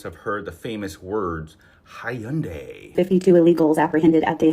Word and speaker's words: Hyundai: joking about this because the pronunciation should be Hyundai. I would have taken Hyundai. It's what most people pronounce it as, and it makes sense. It ends in AI.